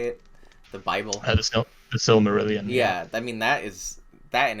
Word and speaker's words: Silmarillion: The Silmarillion.